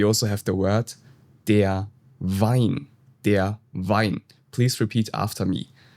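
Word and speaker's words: Wein: In German, W is pronounced like in English V. So here we have the word D vasa. D vasa. And we also have the word de vine.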